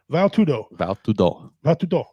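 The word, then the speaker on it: Vale Tudo: That is how you say it. Val Tudo. It's from Brazil.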